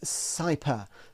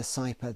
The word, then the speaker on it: CIPA: Invasion of Privacy Act, which I pronounce the abbreviation cyper. Uh, forgive me if that's not how other people say it, but there is a small catch as we'll see.